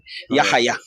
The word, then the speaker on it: Yahaya: No, pronounce the H hard. Yahaya.